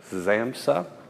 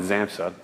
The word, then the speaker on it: Xamsa: by a new company new squash racket brand called zamsa which is x-a-m-s-a an unusual name i asked the guys who are starting up this brand if that's how you pronounce it and they said that's how they say it but uh but they don't mind if other people pronounce it differently so uh so i'm